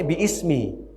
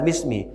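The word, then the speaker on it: باسم: Bisminya tuh bi-nya ada alif. Semestinya membacanya bi ismi, bukan bismi.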